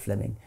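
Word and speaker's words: Fleeming: was simply it's written in flaming but it's pronounced fleming um fleming jenkin was simply saying manifest facts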